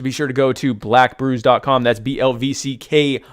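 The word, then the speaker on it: BLVCK: black coffee go to black brews calm that's BL vck that's that's how black is spelled BL vck brews dot-com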